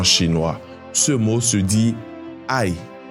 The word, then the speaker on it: 爱: Ce mot se dit aï. Aï. Donc le mot aimé en chinois se dit aï et il se prononce au 4e tome. Donc tu le prononces de façon sèche et rapide.